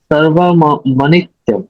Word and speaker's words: सर्वमनित्यम: अच्छा महाराज, यहाँ पे जो आपने जो बताया सर्वमनित्यम सर्वमनित्यम हम्म सर्वमनित्यम म सर्वमनि मनित्यम, म का ओके उच्चारण करना है। सर्वम अनित्यम नहीं करना है, सर्वम अनित्यम, मनित्यम, मनी। हाँ, मनी, मनित्यम। हाँ मनी, हाँ मनी याद